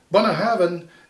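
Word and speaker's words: Bunnahabhain: a bun ah and then you put a v in for the b b and h so you go then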